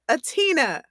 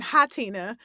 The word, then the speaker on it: H'Atina: yes you are correct it is atina that is right yes yes the uh h is silent yes interesting did you